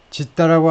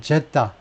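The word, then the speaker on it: Jeddah: 근데 스펠링이 왜 이러냐 하면 이 원어민들의 아랍어 발음을 잘 들어보면 일부 아랍 사람들, 사우디 사람들은 제다, 일부 사우디 사람들은 또 지다, 중심을 잡을 수가 없어요.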